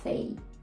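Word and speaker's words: café: звук a До речі Така сама ситуація відбувається у слові кафе це слово також запозичене з французької і читають його англічани Ми звикли що остання І не читається в англійській взагалі-то але оскільки слово запозичене літера і тут видає звук a fay Така сама ситуація буде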